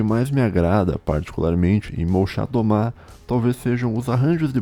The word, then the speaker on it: Molchat Doma: Molchat Doma ou Malchat Dama, que eu acho que é o modo que se pronuncia em russo, é uma banda de post-punk da Bielorrússia.